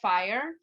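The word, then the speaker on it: Phire: downstream from each other one of them is called fire it's called with a pa it's spelled with ph um but they have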